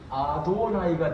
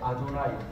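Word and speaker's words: אֲדֹנָי: 그래서 요게 뭐냐 하면은 요걸 그대로 읽으면 아도나이가 돼요. 아도나이. 들어보셨죠? 자, 아도나이. 그래서 이것을 아도나이라고 그리는 거예요. 근데 아도나이라고 그러는데 요거의 모음 부호를 여기다가 붙여 놓은 거예요. 자, 그러니까 이제 여기에 요 단어에 있는 아도나이, 나의 주라는 단어의 모음 부호를 여기다가 붙이면서 앞으로 요 단어가 나오면 아도나이로 읽어.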